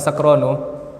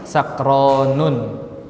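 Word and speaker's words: سكران: Nah, sakronu tidak boleh tanwin. Alasannya apa? Karena dia diakhiri dengan alif dan nun. Sakronu. Tidak boleh kita katakan sakronun.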